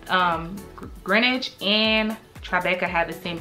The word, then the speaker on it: Greenwich: absolutely love it um it is feel like green witch village but it's actually pronounced greenwich um yes so this is like my number